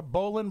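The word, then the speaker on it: bowline: you talk about the you call it a bowan but it's spelled Boline right it's the typical boating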